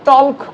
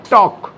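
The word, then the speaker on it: talk: আমরা টল্ক করি না, টক, তাহলে এল উচ্চারিত হচ্ছে না।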